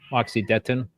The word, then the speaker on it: Moxidectin: Tim, is that how you pronounce that? Moxidectin. Moxidectin.